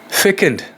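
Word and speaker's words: fecund: फेकेंड देखिए यहां पर सी जरूर लिखा गया है लेकिन इसको हम पढ़ेंगे फेकेंड।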